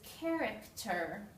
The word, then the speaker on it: character: S Center City here the CH combination actually makes a C Sound this is character here we have two